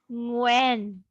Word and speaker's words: Nguyễn: When.